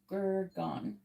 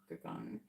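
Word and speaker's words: Gurgaon: The internet is saying it's like it rhymes with cow. So it's supposed to be like an owl at the end. Where the N at the end is very soft or nasal.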